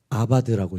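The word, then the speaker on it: עבד: 이 단어는요, 아바드라고 읽습니다.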